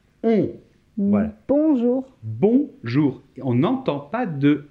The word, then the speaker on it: bonjour: prononciation s'il vous plaît ne prononcez pas le n c'est une nasale o et n forme la nasa un bonjour bonjour on n'entend pas